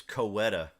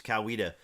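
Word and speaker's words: Coweta: think uh I think I saw Tim P pronounced this coetta kaeta County it's kawia kawia County a nurse in kawia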